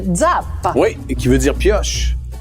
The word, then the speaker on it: Zappa: Et je veux juste terminer en disant, en fait, la vraie façon de prononcer ton nom de famille, si on le prononce à l'italienne, c'est Zappa.